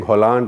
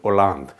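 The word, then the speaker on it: Hollande: a Bengali tried to teach a Punjabi French pronunciation because he said you keep on saying Holland Holland Holland he's not Holland Holland is the name of the country in France his name is pronounces or lungs so you saw all these various colors in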